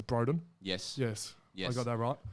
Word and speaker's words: Broden: Last guest we had in, I pronounced his name wrong. I got that right. It's Broden.